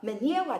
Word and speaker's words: menyewa: At the very end we will discuss vowels But for now you have to know that the e in menyewa is pronounced as /e/ So the stress in